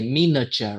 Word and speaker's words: miniature: Or you can just say miniature, right? Miniature, like this. Okay, Mm, miniature. Okay, we stress on the first syllable.